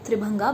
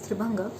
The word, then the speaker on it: Tribhanga: I actually pronounced it Tribhanga, but it is supposed to be pronounced as Tribhanga.